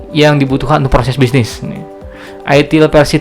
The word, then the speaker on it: ITIL: Nah, ini ada ITIL, dibaca ITIL memang agak bacanya kalau orang Indonesia mungkin agak tanda tanya,